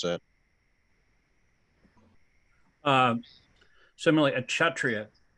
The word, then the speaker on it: Kshatriya: Similarly, a Kshatriya. It's like K and S is pronounced Kshatriya.